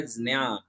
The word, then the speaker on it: ज्ञान: वो बिल्कुल डिफरेंट है, क्योंकि संस्कृत में च वर्ग का जो तीसरा अक्षर है ज, जहाज वाला ज, और पांचवा जो वर्ण है य, वो ज और य इन दोनों को मिलाने पर ये अक्षर बनता है और इसका शुद्ध उच्चारण होता है ज्ञान ज्ञान ज्ञान ज्ञान।